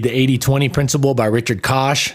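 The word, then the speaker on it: Koch: It's spelled like coke. K O C H. Not Coke like the soda, but like Coke. I think it's a lot of people say it like Coke, but it's Kosh.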